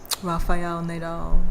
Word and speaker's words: Rafael Nadal: Rafael Nadal. She said it right too, with the correct. Rafael Nadal. She said it with the correct pronunciation and the enunciation.